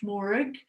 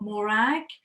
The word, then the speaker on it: Morag: i'm i'm here but actually my name is pronounced morig not morag she stares at me